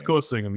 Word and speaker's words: Kulasingam: It's Kulasingam, yeah.